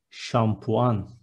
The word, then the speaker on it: şampuan: Next one, shampoo is şampuan with ş in the beginning, şampuan.